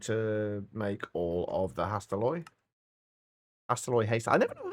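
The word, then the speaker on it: Hastelloy: There's usually a like videos on how to pronounce various things, but according to the AI overview on Google, it's Hasteloy.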